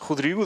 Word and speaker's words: Rodrigo: My name is Hudriu. That was a very that was a very good pronunciation of my name.